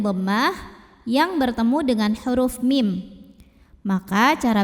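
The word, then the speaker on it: مِمَّا: Nasibum mimma. Mim yang kedua ini adalah gunnah musyaddadah karena mimnya bertasydid. Maka bacanya dengung, bunyi M-nya tahan kurang lebih 2 harokat.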